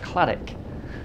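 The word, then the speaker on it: Cladich: final 10-mile run to Claditch. Hindsight tells me it could well be pronounced Claddick. Oh well.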